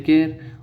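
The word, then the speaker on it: char: इसके अंदर जो ऑप्शन हो राइट आंसर होगा वो होगा ऑप्शन नंबर बी यानी केयर के अंदर, राइट। कोई इसको चार बोलते हैं, इसको चार नहीं बोलते हैं, इसको केयर बोलते हैं।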